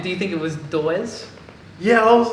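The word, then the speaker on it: Dawes: mr yeah that's right but it's spelt d-a-w-e-s yeah but i'm like how do i pronounce it is it just doors yeah it's like uh rachel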